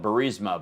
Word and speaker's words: Burisma: Now, Trump clearly has an issue with, most of us would call it Burisma, but the company that his son worked for, that's Burisma.